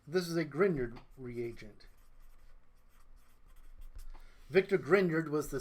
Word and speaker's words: Grignard: called a it looks like grignard but it's pronounced grignard this is a grignard reagent Victor grindyard was the scientist who first